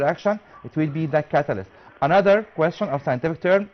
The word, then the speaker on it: catalyst: catalyst catalyst okay catalyst you can pronounce it catalyst not catalyzed okay so it will